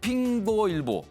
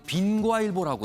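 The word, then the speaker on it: 蘋果日報: 현지 발음으로는 핑거일보, 우린 통상 빈과일보라고 또 부르기도 합니다.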